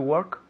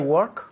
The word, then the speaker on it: work: To work? Yes, eso es. To work. To work. Okay, now, ojo aquí. Work, la pronunciación. Work. Hay una O ahí, pero se pronuncia como si fuera una E.